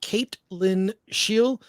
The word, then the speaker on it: Caitlin Scheel: From Rumble, 8Ellis24, what was it like working with Caitlin Scheel? Am I pronouncing that correctly?